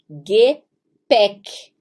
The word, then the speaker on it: Gepäck: O A com trema se pronuncia E. Não se deixe assustar pela trema. Ele só muda o som de A. Com trema vai para E. Então a gente tem aí Gepäck, que é a bagagem.